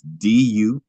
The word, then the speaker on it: Dumortierite: Do more tier right. Oh, That DU, if you want me to spell it again, I yeah, can. yeah. That's DUMORTIERITE. Okay. Do more tour light.